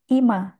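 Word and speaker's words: 今: Kunyomi dibaca ima.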